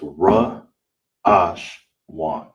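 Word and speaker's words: ראשון: And how you would say it in uh all together is ra ash wan. Ra ash wan. That's how you say first in Hebrew.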